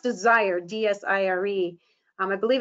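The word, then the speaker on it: DSIRE: slide is from a database that's called It's pronounced desired d-s-i-r-e I believe it's out of the University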